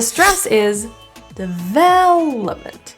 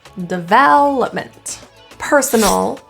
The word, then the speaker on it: development: The stress is development. That vowel is fully pronounced as an eh, the. But the unstressed syllables are all schwas in the vowels.